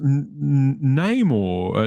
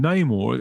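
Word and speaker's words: Namor: ass Tech now and he's his name is pronounced name or no no more rather than Neymar I still don't know what they're doing yeah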